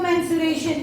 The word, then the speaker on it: mensuration: Spelling of मेंसुरेशन इज, बोलते क्या है हम? Man means what? Broad pronunciation होता है. दैट्स व्हाई यहाँ पे ई आता है, ए नहीं आता है. मेंसुरेशन, sue means SU and RATION.